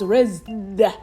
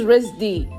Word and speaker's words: RISD: I thought it was RISD, but it's RISD. So during the event, I asked the person who worked for the event where RISD was, and he pointed at the Rochester Institute of Technology. You see, I pronounced RISD. Like RIT. And RIT is the acronym for the Rochester School.